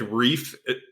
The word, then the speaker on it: Reiff: of Harrisonburg Virginia um the reason we picked reef is because a we like the sound of it it's one syllable yeah um and and